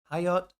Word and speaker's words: Hayat: Oh, yeah, like if you pronounce it like Hanukkah. Yeah. Hayat.